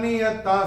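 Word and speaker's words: नियताः: चौथे चरण में ता के बाद विसर्ग के बाद का अक्षर है स, और विसर्ग के बाद जब स आएगा, जैसे हमने यहां देखा था, विसर्ग के बाद जब स आएगा तो विसर्ग का उच्चारण होगा आधा स।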